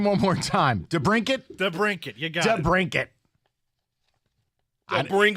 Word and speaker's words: DeBrincat: DeBrincat.